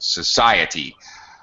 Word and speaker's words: society: We do have to fully pronounce it T, E, the E sound. Society. But fast. It's faster when it's unstressed.